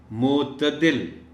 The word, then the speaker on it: معتدل: صحیح تلفظ کے ساتھ۔ معتدل، تے کے اوپر زبر کا خیال رکھا جانا چاہیے۔ طلباء کو مشکل الفاظ